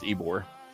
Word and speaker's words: Ybor: Well, it's spelled Ybor, but it's pronounced Ybor.